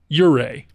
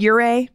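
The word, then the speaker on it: Ouray: uray you say I I would say uray uray I I I've heard you say uray I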